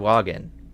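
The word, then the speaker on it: Sahuagin: Sawagin. There we go. That's how it's pronounced.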